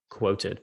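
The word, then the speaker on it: Qwoted: is there's another service called quoted which is spelled q-w-o-t-e-d quoted so those are two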